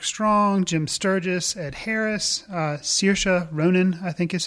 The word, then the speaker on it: Saoirse: And it stars, lots of big people: Colin Farrell, Mark Strong, Jim Sturgis, Ed Harris, Saoirse Ronan, I think is how you say her name, from Atonement.